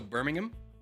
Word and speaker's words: Birmingham: The H in Birmingham is silent. So Birmingham is how you say it?